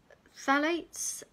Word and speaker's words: phthalates: So there's a silent P on the front of phthalates, but there you go.